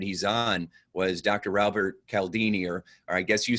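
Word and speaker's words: Cialdini: Albert Cal Dean e're I guess you said that Robert pronounces his name chal Dini and so and dr.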